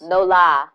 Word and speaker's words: New Orleans: no La New Orleans no lie you gotta say it like them people say No Lie New Orleans is